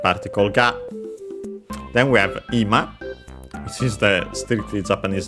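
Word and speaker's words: 今: There is another ima, but with a different accent, and we'll ignore it for now. This is accent on the first syllable, ima, and means now, the present time.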